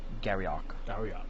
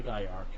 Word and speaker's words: Gaiark: who wage war against Garriok. I think. I don't know. I'm reading it along with you. So Gaiark. All right, that sounds better. Because they actually have the pronunciation.